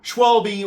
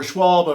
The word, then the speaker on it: Schwalbe: If you like this, thumbs up, of the Schwalbe or Schwalbe, I've heard it pronounced both ways, Hurricane puncture-resistant hybrid bike tires.